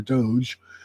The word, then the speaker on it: Doge: of government efficiency or Doge or dog because a g is a hard G so it's like do